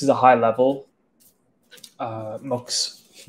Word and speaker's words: Mux: been using mux on mocks however you pronounce it um apparently my name interviewed them the other day the team said it's actually pronounced mugs so I've been calling mux like an idiot but uh I've been